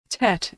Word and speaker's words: Tet: Tet is pronounced t as in tango.